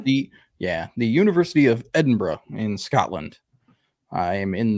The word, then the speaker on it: Edinburgh: it doesn't it it should it should be pronounced Edinburg because this is America and they should pronounce it correctly but it's Scotland so they call it Edinburgh so yeah I'm doing the ancient worlds and